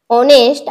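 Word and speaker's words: honest: अन युज करतो आणि ऑनेस्ट आणि अवर हे काही वेगळे शब्द आहे ज्यांचा स्वरांचा उच्चार जरी स्पेलिंग त्याची एचने सुरू होत असेल तरीही स्वराचा उच्चार होतो म्हणून आपण तिथे अन युज करतो तर आता आपण पाहूयात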